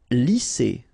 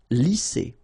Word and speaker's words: lisser: Lisser. Same thing here. Double S. S. Lisser.